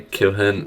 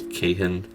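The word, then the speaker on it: Kihyun: I can't want to say Kilhin, like that's my thing. I always pronounce it as Kilhin, but it's Kihin, I believe.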